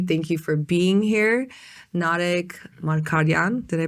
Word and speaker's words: Narek Margaryan: Narek Margaryan, did I pronounce that correctly?